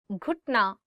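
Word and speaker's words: گھٹنا: घुटना, knee. घुटना, knee. One more time. घुटना. So it is gaf and you're adding it with he and it becomes gh, gh.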